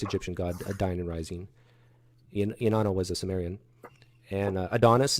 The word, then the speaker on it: Inanna: The Sumerian goddess, how do you pronounce it? Inanna.